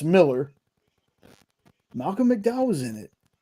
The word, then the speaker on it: Millar: It's Miller. Malcolm McDowell was in it. I'm definitely checking that out after the show. Huh. Interesting. I've always pronounced it Millar too, Jay.